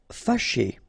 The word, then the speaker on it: fâché: Fâché. Okay, so remember that here, even if you've got this accent circonflexe on the top of A, well, technically it doesn't really change the pronunciation.